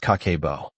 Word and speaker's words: Kakeibo: She called it Kakeibo, pronounced kah-keh-boh.